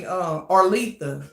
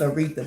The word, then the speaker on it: Aretha: She calls me Arletha, but now she knows how to pronounce it, that it's Aretha.